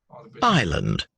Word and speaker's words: island: oh my god ireland island island you see i land so it's it's it's